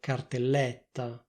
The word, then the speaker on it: cartelletta: If you want to speak like people from Milano, you can pronounce this word with an open E, that is, with an /è/ sound, not with an /e/ sound. You can say /cartellètta/.